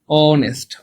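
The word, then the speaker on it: honest: হচ্ছে বাংলায় লেখার ইংলিশে লিখি কি দেখেন তো অনেস্ট অনেস্ট খেয়াল করছেন বাংলায় লেখলে উচ্চারণটাও এর মত হচ্ছে ইংলিশে লেখলে শুরুতে কি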